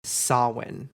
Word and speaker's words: Samhain: Not gonna lie, I've read it and used to pronounce it that way until I heard it said, and it is Samhain.